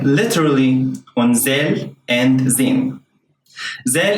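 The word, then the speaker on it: ذال: Zel in standard Arabic is pronounced like a voiced TH sound, as in the word mother, while in standard Arabic it's a regular Z sound.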